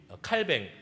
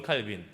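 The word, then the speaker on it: Calvin: 어떠했는지를 살펴보았고, 오늘은 이 칼뱅, 우리는 칼빈이라고 알고 있죠. 칼빈이라는 이 사람, 존 칼빈, 다른 사람 아닙니다. 칼뱅은 아마 그 불어식 발음인 것 같고, 우리는 그냥 영어식 발음 존 칼빈이라고 이렇게 하고 있는데요.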